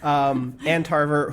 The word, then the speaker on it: Ann Tarver: you play this woman Ann Tarver, who gets Ann space Tarver. Not, I didn't just mispronounce Antarctica or Ann Arbor. Yes. Ann Tarver, who is a woman